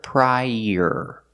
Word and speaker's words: prior: Link the sounds together, prior. Use the y sound like in yellow to link the two vowels.